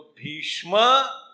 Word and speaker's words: भीष्म: तो भीष्म, that उच्चारण शब्द, you cannot pronounce a Bhisham.